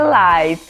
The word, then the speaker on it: live: Em países de língua inglesa escreve live, apesar da escrita ser a mesma, a pronúncia é diferente, é live.